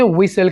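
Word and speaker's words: whistle: सीटी बजाना, इसे इंग्लिश में विसल कहेंगे। विसल। यहाँ पर दोस्तों आपने टी के साउंड को आपने प्रोनाउंस नहीं करना, इसको हम साइलेंट रखेंगे।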